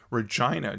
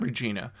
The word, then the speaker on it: Regina: we pronounce that name Regina just like the capital city in Saskatchewan, not Regina.